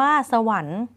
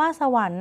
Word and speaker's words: สวรรค์: นะ คะ คำ ว่า สวรรค์ คำ ว่า สวรรค์ นะ คะ เรา เห็น แล้ว ล่ะ ค่ะ ว่า ค ควาย ไม่ ออก เสียง นะ คะ และ อ่าน ด้วย รอ